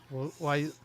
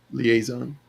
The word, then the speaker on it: liaison: And then he wants I need a las um clean on lason. How do you say that? Liaison liaison.